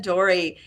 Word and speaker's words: Dorey: And I think the pronunciation is Dore? Jason Dorey.